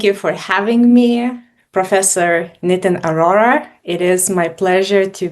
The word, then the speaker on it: Nitin Arora: Thank you for having me, Professor NITIN ARORA.